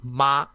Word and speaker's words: 妈: So when we use the smooth tone, it's pronounced as ma, and when we use the rising tone, it's pronounced as ma.